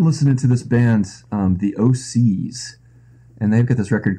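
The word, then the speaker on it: OHSEES: to this bands the o'seas and they've got this record called carrion crawler that's really cool and it spelled like like o H s EE Oscar yes yeah the OCS what kind of music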